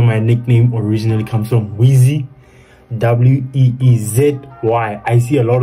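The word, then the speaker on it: Weezy: That's where my nickname originally comes from, Wheezy. W-E-E-Z-Y. I see a lot of people pronounce it wrong, or some people when they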